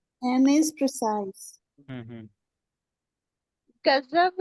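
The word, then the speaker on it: غضب: अ, गसनब, नहीं नहीं, गजनबी, ना नहीं है, ना नहीं है। ग, ये गजब। गजब, वो ज्वाद में ऊपर नूर, नुक्ता आता है ना, तो वो अ, वाला नुक्ता है।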